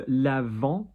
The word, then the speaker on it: lavant: So lavant is a washing product. Lavant. Notice not lavante because we don't have an E after the T.